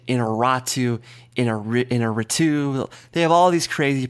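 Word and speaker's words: Iñárritu: n y a r that second part is where the emphasis goes and that's the most important part so Allandra Gonzalez inaru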